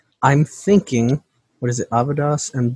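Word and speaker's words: Avidis: That's almost how I've got it exactly, except that second A is an I in Avidas, and Bor has an E between the R and S. You have to pronounce it without those, though.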